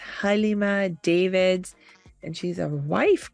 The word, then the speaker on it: Galeema: said, I'm Galeema, and I was just telling you how beautiful it is when it's pronounced properly, because it's spelled Galeema. So often people could say Galeema, which is fine, alhamdulillah, but it's so lovely to hear the correct pronunciation.